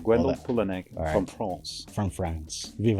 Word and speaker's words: Gwendal Poullennec: We have Gwendal Poullennec, right? Am I pronouncing your last name right? Absolutely right. Gwendal Poullennec from France.